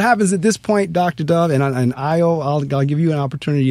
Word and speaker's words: Dove: The first name is. And the last name is just like that peace bird, Dove, D-O-V-E. Dove, the Afrocentric School. What happens at this point, Dr. Dove, I'll give you an opportunity as well.